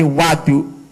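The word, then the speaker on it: وضوء: wabifath Lan kelawan kafat wawu berarti bacanya bukan wudu tapi Wadu bagaimana jikal wawunya itu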